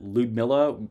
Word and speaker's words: Ludmilla: officially going with uh lude Miller although I understand that lud Miller is actually how her name is supposed to be uh pronounced even with just the U anyway we're going on